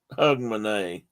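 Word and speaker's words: Hogmanay: they did was say this isn't hog it's more like hug or hug manay that this is one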